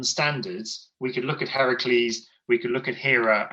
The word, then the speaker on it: Heracles: them okay so apart from the 12 labors heracles i said it right this time nice job